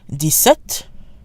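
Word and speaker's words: dix-sept: of 17 through 19 de set de suite and DS enough 17 and 18 follow standard French pronunciation rules the X is silent and 17 de set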